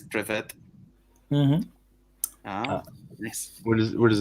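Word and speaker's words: Привет: pretty much the same how do you pronounce it in Bulgarian uh privet oh privet PR without uh Accent on the the E uh so Russian is like privet and then yeah yeah and Bulgarian is privet nice what do what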